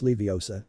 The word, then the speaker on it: Leviosa: Besides, you're saying it wrong. It's Leviosa, not Levia, she explained, which ticked off Ron.